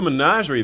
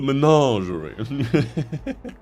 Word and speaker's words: Menagerie: The Menagerie. I don't know why I've said it like that. That's not even how you say it in French. In French, it would be Menagerie.